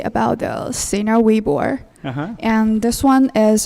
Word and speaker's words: Weibo: I just want to say about the Sina Weibo.